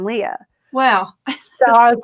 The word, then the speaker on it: Lia: And Leah Mehta, she spells her name differently, but it's pronounced the same as my Sharon Lia.